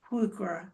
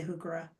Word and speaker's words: Heuchera: holly hawks, helenium, and hooka or hookura. There's another way to pronounce it true, but I say hookah.